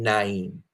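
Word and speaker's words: Nain: Naim or name um I I believe that is pronounced Naim because there's some other spellings of it that allude to that uh Naim and so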